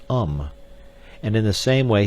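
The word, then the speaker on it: homme: a piece of bark he learned from darno that it was pronounced um and in the same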